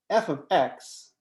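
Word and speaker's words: f(x): that we use is f so we define f of x we write f is the name of the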